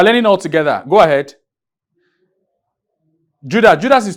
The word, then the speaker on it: Judas: Judas, like you mentioned, is just 2 syllables. J-U is the first syllable and D-A-S is the second syllable.